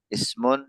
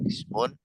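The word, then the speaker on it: اسم: Ismun, fi'lun, harfun. Ismun, fi'lun, harfun. Itu pengucapannya dalam bahasa Arab. Ismun, fi'lun, harfun.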